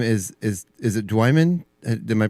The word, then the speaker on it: Dwiman: And your last name is is is it Dwimman? Am I pronouncing that correctly? Elsar Dwan.